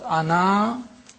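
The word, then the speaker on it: أنا: This means that the alif is not pronounced in continuous reading, but it is to be pronounced in the pausal form. When you pause, ana, you read the alif, pronounce the alif.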